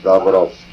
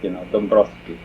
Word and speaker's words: Dabrowski: Dabrowski. Ah, Drozdowski and Dabrowski. The W is silent. It's silent. So that even in Polish. Even men of letters, skip it, Dabrowski, because two consonants, it's hard to.